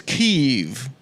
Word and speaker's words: Kiev: you and of course the correct pronunciation is Kiev you're gonna make Adam